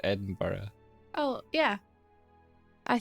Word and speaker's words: Edinburgh: you say how do you like I said Edinburgh oh yeah I say Edinburgh like hey bruh yeah actually spell Edinburgh it's